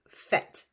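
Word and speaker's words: faite: have odap going on so there's an at the end of F that changes the pronunciation to fet and then that is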